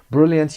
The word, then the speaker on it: brilliant: brilliant یعنی extremely clever or impressive, skillful. brilliant. brilliant تلفظش brilliant. شوا داریم brilliant. brilliant اینو نمیخونیم.